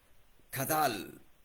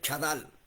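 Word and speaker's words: חדל: Esa palabra prudencia en Proverbios 23:4 es kadal. Kadal. Se escribe chadal. Chadal se escribe. Chadal. Chadal. Pero la primera letra A tiene acento de sombrero y se pronuncia kadal.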